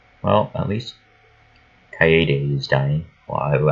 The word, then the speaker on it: Kaede: Well, I would say Cade, but I should at least say it right one more time. Because I'm pretty sure all of you hate me for saying it as Cade when it's Kaede.